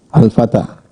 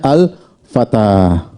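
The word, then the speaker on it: الفتى: Perhatikan, ini alif sebenarnya begini, Al-Fata. Tetapi tulisnya bengkok. Ini alif ya. Ini huruf alif bengkok, ini alif bengkok. Perhatikan, terakhirnya alif bengkok, sebelumnya apa? Fathah. Bacanya Al-Fatah.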